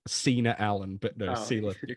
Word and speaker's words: Sela: Sela.